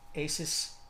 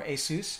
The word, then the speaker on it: Asus: tell you right now Asus makes great motherboards or a seuss however you want to pronounce it but they make crappy